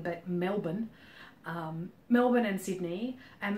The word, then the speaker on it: Melbourne: that people know about Melbourne which is not pronounced Melbourne but Melbourne um Melbourne and Sydney and Melbourne's kind of